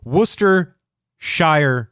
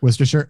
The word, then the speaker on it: Worcestershire: can say woosters I can't even say it Worcester Shire sauce I have to say it very slowly Worcestershire it's Worcestershire sauce well I have a speech impediment apparently I can't say Worcestershire without stumbling over myself you got it right